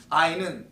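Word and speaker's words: עין: 이걸 아인이라고 그래요. 히브리어로. 아인. 발음을. 아인은 뜻이 눈이에요.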